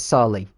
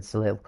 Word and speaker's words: Sali: yeah, it's Sali. Yeah, Sali's how it's pronounced as. I don't know why I said Salil, but it's Sali.